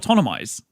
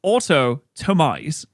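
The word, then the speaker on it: autotomize: Wait, it's not autonomize. It's autotomise. Automize.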